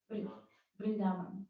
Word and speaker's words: Vrindavan: He didn't leave Vrindavan, how correct to pronounce? Vrindavan, thank you.